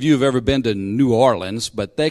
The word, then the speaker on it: New Orleans: have ever been to new orleans but they call it gnarlins down in new orleans you know they don't it's not new orleans it's new orleans but new orleans but